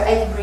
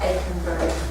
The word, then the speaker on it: Aconbury: My wheatgrass, my best, Akenbury Sprouts is my best resource for all of this stuff. They will sell you the trays of greens. So Akenbury is ACONBURY.